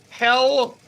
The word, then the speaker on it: Hel: this bus takes its Riders to Hell Poland now that's spelled h-e-l no Poland but it's pronounced hell